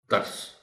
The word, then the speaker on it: ترس: طرح ہی پڑھنا چاہیے۔ ترس، ترس نہیں، ترس۔ شکر گزار، گزار کی